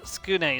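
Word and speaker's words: Tsukune: No, that's Skune is how they pronounced it in the anime.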